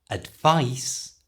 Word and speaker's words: advice: words are really tricky advice and advise and there is a really clear difference in the way they're pronounced first advice and the C becomes the S Sound Advice you try and